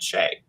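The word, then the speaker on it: Tschai: explored a different alien species on the planet Shea um and by the way I know how to pronounce it because I asked Jack Vance how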